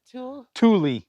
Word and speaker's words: Thule: Thule.